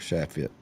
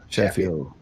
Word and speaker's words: Shaffiot: So Justin, when did y'all start Shaffitt? I don't know if I even know that. Shaffiot. Like Rufio.